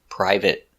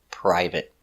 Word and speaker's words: private: it's private we see we don't say private we pronounce it private let's take a closer look at the pronunciation private p p Pur I pry V priv priv private private use a stop T not private private